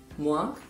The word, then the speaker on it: moi: Oke, yang pertama ada huruf U dan I. Dibaca wa. Misalnya dalam kata moi, loi, dan roi. Moi berarti aku sebagai objek. Kemudian loi itu berarti hukum. Kemudian ada roi yang berarti raja. Dibacanya moi, loi, dan roi. Bukan moi ya, tapi dia